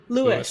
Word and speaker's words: Louis: it's it's i mean he certainly from from what i've seen all of the sort of footage and songs in which you see him refer to himself it's lewis and i think it